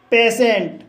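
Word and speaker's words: patient: का उच्चारण होता है जैसे पेशेंट पेशेंट शब्द के अंत में टी के बाद आई ई एन टी आया है इसलिए टी का उच्चारण श हुआ है इसलिए इसे पेशेंट पढ़ा जाता है इसी तरह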